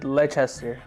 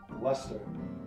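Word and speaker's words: Leicester: of close Okay ler Final Answer le le leester God this one's going to be weird leester leester leester it's pronounced Lester Lester Lester Lester Lester that makes sense that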